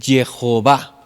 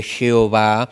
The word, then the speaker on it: Jehová: ¿De dónde añadieron las vocales? Pues de la palabra Adonay, donde salen dos términos. El primero que es Yahweé y el segundo es que es Jehová, ¿no?